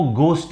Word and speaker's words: ghost: तो ये हमेशा याद रखिएगा कि ये गोस्ट होता है, घोस्ट नहीं होता।